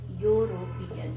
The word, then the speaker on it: European: Now again, similarly like university, European is a word which is starting with European, you can see, and that's why, since y is pronounced as consonant sound, so we are writing a European.